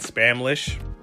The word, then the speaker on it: Spamlish: And it's in a place called Spamtopia, but the problem is that he doesn't speak Spamlish. And no, I didn't say Spanish or butcher the word Spanish, it's literally called Spamlish.